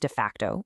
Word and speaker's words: d-FCT: This is the absolute core challenge that de facto, and by the way, it's pronounced de facto, which is pretty clever, is trying to solve.